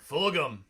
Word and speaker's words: Fulgham: The kid that they found, Flugum, is pretty good. I like that kid as well. So that's Jake's guy. Yeah, he messed up his name. Fulgham. Fulgham. Yeah, whatever.